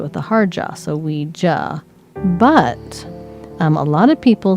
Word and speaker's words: Ouija: But you pronounce it with a hard jaw, so Ouija.